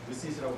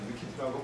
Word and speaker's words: WCIT: 그리고 최근에 들어서 위키트라고 저는 위시스라고 했는데 위키트라고 공식적인 발음이 그렇답니다.